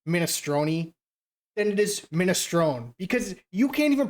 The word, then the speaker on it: minestrone: So I say Minestron who? And they're like, "No, it's minestrone."